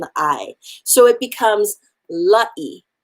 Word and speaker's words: La'ieikawai: the a and the i so it becomes la e l a i a is pronounced ah i is pronounced e so i